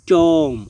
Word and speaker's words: tomb: টম অর্থ হচ্ছে সমাধি, এখানে TOMB, কিন্তু টম্প নয়, টম, সমাধি।